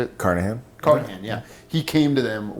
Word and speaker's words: Carnahan: And Joe Carnahan came to Carnahan. How you say it? Carnahan, yeah.